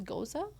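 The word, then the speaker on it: Gose: Like, almost feel like do you pronounce this goza? Goza. Okay, I thought it was ghost for the longest time. I'm so glad you corrected me.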